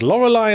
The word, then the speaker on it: Lorelei: Our first game this week is Lorelai and the laser eyes, which rhymes with tries, and now I'm writing it down.